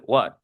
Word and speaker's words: what: No se dice what, se dice what, con A.